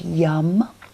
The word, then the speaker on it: yam: We'll keep the hands onto the heart and the chest for our mantra of YAM, which is Y-A-M, but pronounced yum.